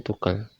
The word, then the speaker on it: Tugel: ini ayah ya vog Gunung Tugel gunung fogel atau Gunung Tugel kalau saya bacanya Tugel teruntung ambal Mirit ra